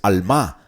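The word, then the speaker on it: עלמה: Alma es la palabra como alma, pero con acento en la última A, es alma.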